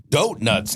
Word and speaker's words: Doatnut: we are Doatnuts now.